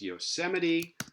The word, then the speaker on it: Yosemite: This is pronounced Yosemite, and we said that the infix has to